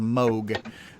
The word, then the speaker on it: Moog: And actually, yeah, the actual correct pronouncing is called Moog. I've always called it Moog, but and Karen's saying in the chat, yeah, it is pronounced Moog, although it's not spelled that way.